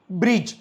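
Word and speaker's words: bridge: नाही जी आला त्याच्यामुळे हा जोडी दिसतो याला सायलेंट ठेवतो सायलेंट ठेवतो म्हणजे त्याचा प्रोन्सशन करत नाही एझाम्पल बज ब्रिज फज जज लज प्लेज वेज ग्रजले महणजे तुमही नोटीस केलं का आपणडी च प्रोन्सशन केलं नाही द रिजन की आफ्टरडी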